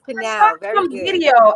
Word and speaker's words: Pnau: It is Pnau.